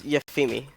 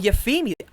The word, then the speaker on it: J3F33MI: If someone can tell me how that's pronounced, that would be great. Oh wait, actually, I think in Twitch chat they said it. It's Yafimi. Oh, Yafimi.